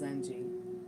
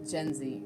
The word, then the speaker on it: Gen Z: And let me tell you, honey, it's not just Zenji. Zenji? Okay, yeah, it's time to go to bed when I'm back talk-works-ing. But it's not just Gen Z, okay?